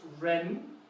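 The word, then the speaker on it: 人: This one means person, and it's pronounced ren, so you can see how there's a rising accent on this tone.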